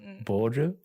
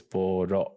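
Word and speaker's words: ボーロ: times I heard it, I thought it was boru, like a ball, because they are little balls, but it's not boru. It's boro, like an O sound at the end.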